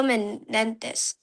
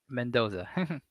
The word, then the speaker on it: Mendoza: either I think it's Jeremiah Love or Fernando Mendes, I think. Is that how you say it? Mendoza.